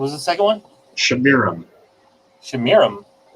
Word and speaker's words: Semiramis: Shamiram. It's spelled like Semiramis, but it's pronounced Shamiram.